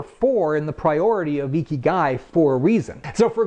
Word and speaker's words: ikigai: Okay, that's how you pronounce it. Now you can remember. Ikigai has four components to it.